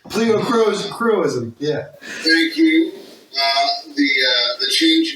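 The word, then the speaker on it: pleochroism: Kyle showed, and I'm probably going to pronounce this wrong as I generally do. Kyle showed pleocrism. Pleocroism, yeah.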